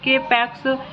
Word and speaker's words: K-PAX: After claiming he is in extraterrestrial from the planet Capex, 1000 light years away in the Lyra constellation, thought not capitalized and pronounced with a long O rhyming with bot, is committed to the Psychiatric Institute of Manhattan.